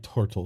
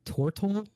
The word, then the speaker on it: tortle: And you, my turtle friend, looking at you, Bob. They like it to be pronounced tortle.